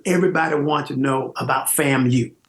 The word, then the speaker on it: FAMU: from FAMU and and a lot of them would call it famm they didn't know how to pronounce FAMU yeah all of a